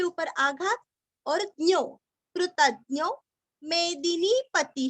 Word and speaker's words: मेदिनीपति: कपिलाचार्य कृतज्ञो, कृति का कृ, त के ऊपर आघात और ज्ञो, कृतज्ञो मेदिनीपति ही, मेदिनी का दीरस्व नी दीर्घ, पति का तीरस्व और विसर्ग का भी रस्व ही, मेदिनीपति ही, मेदिनीपति ही।